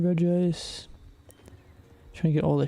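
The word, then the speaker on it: Regice: Hunting Reggie Ice or is Regist? Not Reggie Ice. Hunting Reg Ice.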